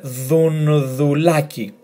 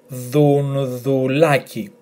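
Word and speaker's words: Ντουντουλάκη: And this was the difficult part. So we had the, then n, thun, thun. And then thu again, thu with l, thun, thul, thun, thul. And then a, k, I, aki, with the emphasis on a. So altogether, thun, thulaki.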